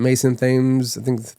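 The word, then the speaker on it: Mason Thames: I think I think it is called the black phone but Ethan Hawk um Mason Thes is the way you pronounce his name.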